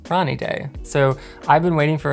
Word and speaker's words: Ranidae: impression review of the Wilding rainy day or as it's probably pronounced in deand Ronnie day so I've been waiting